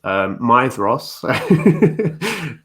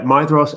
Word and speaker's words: Maedhros: Maedhros, which, as I told you, that is how Christopher Lee pronounces it in the Children of Húrin audiobook. So yeah, Maedhros, and So I haven't